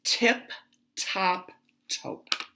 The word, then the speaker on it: Tip Top Taupe: If I didn't say it right because of my accent, it's Tip Top Taupe.